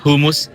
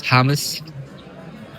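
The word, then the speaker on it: hummus: I pronounce it humus earlier but it's Hames.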